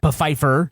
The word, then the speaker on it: Pfeiffer: Pfeiffer. There's a P is silent, so it's Pfeiffer.